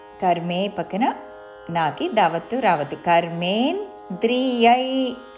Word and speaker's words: కర్మేంద్రియైః: కర్మేంద్రియై yeah ఐత్వముతో విసర్గ పక్కనున్న పదములోని క అందుకుంటూ కర్మేంద్రియై కర్మయోగం కర్మయోగం కర్మేంద్రియై కర్మయోగం అసక్తః స విశిష్యతే.